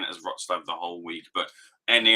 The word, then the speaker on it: Wrocław: like out in Poland in, how do you pronounce it? Wrocław? Something like that. I've been pronouncing it as Wrocław. I'm reliably informed by my good friend Emily that it's called Wrocław.